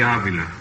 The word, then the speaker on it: Avila: for the cleveland indians bobby abeela do i pronounce that right yeah this is right from the season with my name frankie let me have that again please bobby bobby avila avila avila well i got it